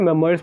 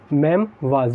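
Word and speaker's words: memoirs: देखिए, इसको कई जगह मेमोयर्स पढ़ा जाता है और कई जगह इसको कहते हैं मेमवाज।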